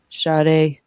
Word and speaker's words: Sade: I always say her name wrong. Sade, I guess.